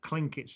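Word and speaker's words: Tlingit: us of in the articles is how you pronounce it correctly so klinketz is the correct name for these native americans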